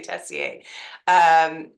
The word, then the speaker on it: Tessier: It is French, so you can say Tessier.